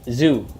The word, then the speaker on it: Tszyu: two okay let's see I pick tank to pronounce like Zoo is Zoo okay why get some Goosebumps